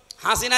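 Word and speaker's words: حسنة: লক্ষ লক্ষ মানুষকে দেখলাম কাবা শরীফে, এই রুকনে আমিনি থেকে হজরে আসওয়াদ এটা পার হওয়ার সময় এই নামটা উচ্চারণ হচ্ছে, হাসিনা না হাসানা।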